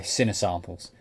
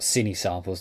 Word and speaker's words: Cinesamples: taking a look at cine winds core sorry sinner winds core by sinner samples not cine samples the way I used to pronounce his actual pronounce sinner samples anyway so what we're